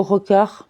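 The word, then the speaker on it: רקח: Le mot rokar est un substantif ainsi qu'en témoigne l'accent tonique, lequel est sur avant-dernière syllabe.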